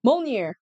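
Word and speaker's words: Mjölnir: Yeah, Molnir. I'm gonna say Molnir. That's like the closest pronunciation to this whole thing.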